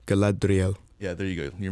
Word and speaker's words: Galadriel: the original movies specifically we have uh collateral galadriel and i i wussed out of trying to pronounce it and that made it worse it made it worse it's like galadriel yeah there you go you're much better so